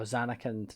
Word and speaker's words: Zanarkand: I'm going to pronounce this wrong. Is it Zanarkand? Oh, Zanarkand.